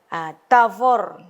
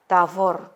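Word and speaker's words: תבור: Nah, kemudian ada Tavor, nama gunung Tabor ya. Tavor 2 suku kata karena akhiran ini huruf mati ya, close syllable ya, nama gunung.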